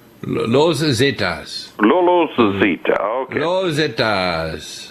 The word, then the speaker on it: Los Zetas: The Zetas, that's how do you pronounce it? La Zeta? Los Zetas.